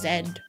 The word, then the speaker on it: Z: I think people just pronounce Z is zed. I think it just depends on what area you come from. Cuz certain areas will like say Z or zed.